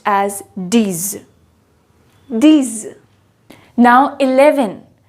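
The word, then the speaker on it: dix: nerf ten is pronounced as ds ten is pronounced as dis dis now eleven how do we pronounce 11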